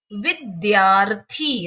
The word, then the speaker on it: विद्यार्थी: र का उच्चारण, तो र का उच्चारण विद्यार, विद्यार यहाँ पर या के बाद है तो हमेशा ये अपने आगे वाले के सिर पर जाकर बैठ जाता है, तो विद्यार्थी।